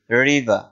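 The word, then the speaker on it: river: তারপর রিভার, রিভার শব্দের অর্থ নদী, নদীকে ইংলিশে বলা হয় রিভার, যেটাকে আমরা বাংলা উচ্চারণে বলি রিভার, অর্থাৎ আর উচ্চারণ করি, ব্রিটিশরা আর উচ্চারণ করে না, রিভার।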